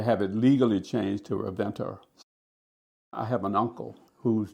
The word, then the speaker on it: Ravenna: But also, my name was Ravenna, Revenna, which was how people pronounce things in the South. They would just kind of lazy tongue. Instead of Ravenna, they would just say Ravenna.